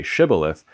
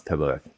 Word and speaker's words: shibboleth: After the passage in Judges 12, where the Gileadites demanded people say shibboleth to determine if they were actually Ephraimites who notoriously couldn't pronounce Tibboleth.